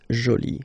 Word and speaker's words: jolie: So you can see that you put this but then you don't pronounce it. Okay? So it's jolie.